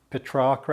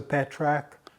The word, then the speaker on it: Petrarca: Padua it's just that I'm preferring the Italian pronunciation Petrarca as opposed to Patrick but there we are